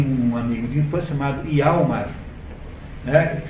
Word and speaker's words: Hjalmar: E ao mesmo tempo esse Gregers tem um amigo de infância chamado Hjalmar, né, escrito com J, nessas línguas norte-europeias, o J pronuncia-se como se fosse I.